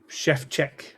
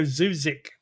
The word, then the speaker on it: Szewczyk: agenda politely for Joe Sheff how to say my name. I did cuz I was going to go Zuzik, but apparently that's not how you say it.